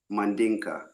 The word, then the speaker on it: Mandinka: Mandinka.